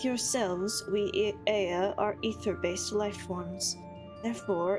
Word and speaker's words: Aya: When the vibration of vocal folds was still required to convey our thoughts and attention, Aya, I believe, was the pronunciation used when referring to our people.